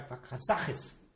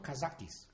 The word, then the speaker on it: Kazakh: And it's populated, it is populated by Kazakhs. They are Kazakhs. They're not Kazakis, Kazakh.